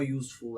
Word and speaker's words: useful: have to work on the phonic sound here useful again you not you but you that's why the correct answer would be cow is a useful animal or useful animal why because the very beginning of the pronunciation useful you as if you and etch